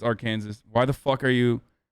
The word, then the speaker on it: Arkansas: No, it's Arkansas, dude. Shut up. Literally everyone knows that it's Arkansas.